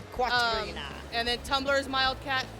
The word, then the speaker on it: Quatrina: It's spelled with a Q, just like Katrina, but Quatrina. Quatrina.